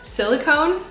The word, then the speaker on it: silicone: to pronounce this word silicone i mean that's how you spell it like cone like an ice cream cone okay i have these